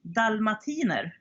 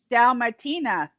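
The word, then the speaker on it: dalmatiner: Dalmatian and Swedish hmm we say dull Matina dommatina yes dommatina yes we have Valmet evolve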